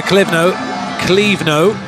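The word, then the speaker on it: Clévenot: And then Trevor Clivno, as it's pronounced, has come on and done a very good job.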